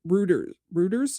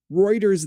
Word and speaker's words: Reuters: Then Road Router Routers, is that how you say it? Reuters.